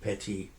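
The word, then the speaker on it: פתי: He's the Pethi. Pei Tav Yud. We pronounce it Peti.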